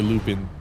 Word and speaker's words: Lupin: Oh, another one I want to see is Lupin. That one seems really cool too. Lupin the Third. Or Lupin. Depends on how you want to pronounce it.